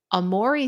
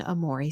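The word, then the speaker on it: Aomori: being very snowy however it's Amore City I think that's how you pronounce it Amore City a o m o r i uh extreme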